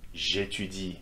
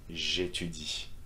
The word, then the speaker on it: j'étudie: Same will go for j'aime, j'étudie, for these two verbs that start with vowels, okay, A and E. J'aime, j'étudie.